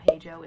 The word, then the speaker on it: Paigo: My name is Paigo, Paigo, Paigo, P-A-I-G-O, Paigo, it's pronounced Paigo, big O, right?